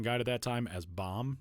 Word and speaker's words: Bohm: Uh but the month after we got a chance to talk with Alec Bomb uh who by the way was listed in the USA baseball pronunciation guide at that time as Bomb not Bomb.